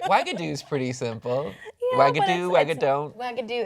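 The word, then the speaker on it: Wagadou: Yeah, Wagadoo, Wagadon't. Wagadoo. It sounds like Xanadu. It's not pronounced the way it's spelled, though.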